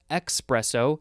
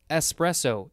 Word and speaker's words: espresso: It's not espresso, it's espresso, E-S-P, not E-X-P.